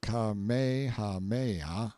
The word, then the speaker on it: Kamehameha: When Kamehahha, pronounced Kamehameha the Great, who was a sort